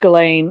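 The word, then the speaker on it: Ghislaine: Yeah, I believe it's pronounced Gain.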